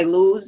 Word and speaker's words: lose: And if you compare it, for example, to choose, which is spelled with double O, choose is much more logical to be pronounced as choose than lose is.